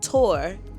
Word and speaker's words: Thor: This is Thor, pronounced Tor, in Denmark.